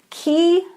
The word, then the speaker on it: ki: spiritually guided or spirit and ki the K I key means lifeforce so a lot of us are used to the term Qi which is the chinese version of key and key is Japanese